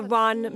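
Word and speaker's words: 润: in Chinese the character run means humidity but it is pronounced not unlike the English word run so it's practical to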